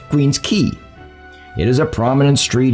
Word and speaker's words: Queen's Quay: This area along Toronto's waterfront, although spelled Q-U-A-Y, is pronounced Queen's Quay.